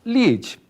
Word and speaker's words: lead: esse pequeno resuminho pessoal Observe que a palavra lide ela é uma palavra importada do Inglês então nós escrever mus Lead e pronunciamos lit Tá certo dentre as